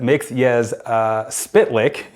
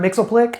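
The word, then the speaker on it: Mxyzptlk: What's your way to pronounce it? There's also, what is it? Mix-Yes Spitlick. It's Mix. Yes. Spit. Lick. Oh, I've heard that. Spitlick. I've heard that. I've heard Mixelplick.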